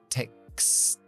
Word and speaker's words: texts: Aquí tenemos una K, S, T, S. 4 consonantes sordas. Así que texts, texts. Subimos para la T y despegamos para la S.